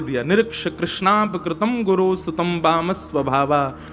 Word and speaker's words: कृष्ण: इसीलिए हम कथाओं में कहा करते हैं कि भगवान का नाम उच्चारण करना है तो कृष्ण बोलो, कृष्ण। और यदि द्रौपदी का उच्चारण करना है तो कृष्णा बोलो, अकार आ की मात्रा लगाओ।